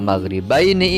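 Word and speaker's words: الْمَغْرِبَيْنِ: Maka pada kata maghribaini ini ketika kita waqaf, apalagi ini di akhir ayat, kita berhenti membaca, maka dibacanya menjadi maghribain. Nunnya mati, dibaca panjang 2 harokat atau 4 harokat atau 6 harokat.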